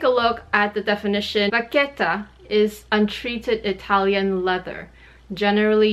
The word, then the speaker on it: vachetta: Today's video is all about vachette or vachetta, depending on where or how you like to pronounce it. In French, it's vachette. In Italian, it should be vachetta.